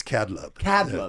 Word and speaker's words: Kadlub: your last name again it's catalog yeah k-a-d-l-u-b so cubic is k-a-b